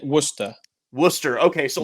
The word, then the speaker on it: Worcester: you say wer how do you say wer Worcester okay so like in M like in Massachusetts